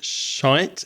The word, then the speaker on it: shite: I do know that in Northern Ireland and in Scotland it's quite common to say shite, shi t, which is very different to t in pronunciation, but it's the same thing, right?